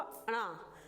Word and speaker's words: ड़: इसका प्रोनाउंसिएशन होगा हिंदी में अड़ा। क्या होगा? अड़ा, जिसको हम ये पढ़ते हैं, जो कि आ प्लस ड़ा को बनाकर मिलता है अड़ा।